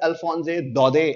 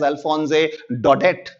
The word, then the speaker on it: Alphonse Daudet: jante honge shayad, that in the French language, these last consonant sounds are not pronounced clearly.